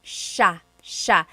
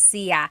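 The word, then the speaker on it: siya: And another tip uh just about pronunciation, it's sha sha. The s i y combination makes that sha- sound. It looks like it should be pronounced sa.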